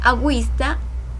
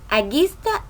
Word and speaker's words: agüista: Ejemplo, agüero, agüista, agüita. Si no tuviera las diéresis, dijéramos aguero, aguista y aguita.